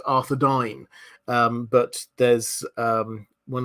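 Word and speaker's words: Arthedain: also my favorite one it's uh it's technically pronounced arod dine um but there's um one of the the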